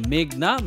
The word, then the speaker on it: মেঘনা: শুনানীর এক পর্যায়ে মেঘনা আদালতে নিজের নাম ভুল উচ্চারণ করায় সংশোধনের অনুরোধ করেন এবং বলেন আমার নাম মেঘনা মেঘলা নয়।